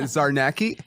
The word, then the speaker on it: Czarnecki: __ ] up your last name though Cynthia Czarnecki yeah perfect that's it right perfect look at